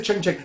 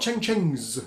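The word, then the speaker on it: ceng-ceng: They're not cheng chengs. You don't put an S on the end of the word in Indonesian. That's a cheng, so together they're cheng cheng. You just say the word twice.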